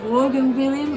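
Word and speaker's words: Vaughan Williams: It's not Vaughan William, it's Vaughan William. One of those things that I never know how to pronounce correctly.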